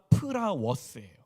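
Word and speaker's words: πραΰς: 단어에서 갖고 온 단어가 프라워스예요. 오유라는 단어예요. 근데 조금 헷갈릴 수 있는 이게 라틴어로 플라워스라는 단어는요. 시기, 질투, 분노 무슨 뜻이지? 충동 이런 뜻이에요. 배신,기만 이런 뜻이에요. 그러니까 F 발음이 아니라 P발음이에요. 프라워스.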